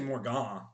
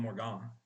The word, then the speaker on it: Morgan: we got Morgan shoddy ad I don't know how to pronounce it it's actually more gone more gone it's French I'm gonna call him morgon because that's his name um minus 325 versus